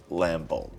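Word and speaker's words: Lambholt: gonna cast champion of lambold strangers with power lesson champion of lambold's power can't block creatures you control I think the B is silent whenever another creature enters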